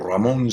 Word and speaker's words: Ramon: name which I think with a good Spanish accent you know would be your Ramon so don't be this